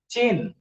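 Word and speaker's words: 针: china it is called chain though the spelling is zhen but pronunciation is chain and development of acupuncture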